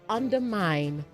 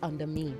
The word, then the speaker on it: undermine: You also say undermine not under mean. Okay, you say undermine.